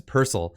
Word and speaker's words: Purcell: It's not Purcell, it's Purcell.